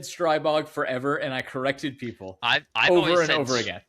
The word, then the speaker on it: Stribog: STRIBOG, because it is the name of like a supernatural creature in Slovakia. It's STRIBOG, very much STRIBOG. And I hate it because I said STRIBOG forever and I corrected people I've over again.